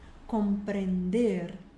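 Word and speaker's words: comprender: Es, ler, ler, compreender, aqui é um E só, então ele é compreender, compreender, responder, começa vibrando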